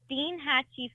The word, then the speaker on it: Steinhatchee: It's pronounced Steinhatchee, Florida.